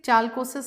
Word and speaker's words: chalcosis: So when you say chalcosis, some people pronounce it that. It's okay to pronounce whatever. I call it calcosis.